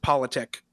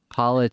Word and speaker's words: Poletiek: So it's much more boring than it looks how it's spelled. It's just politic. Poletiek.